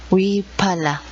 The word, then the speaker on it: wiphala: y para la wiphala la pronunciación en aymara la bandera se llama wiphala y así también se escribe wiphala una noche el escudo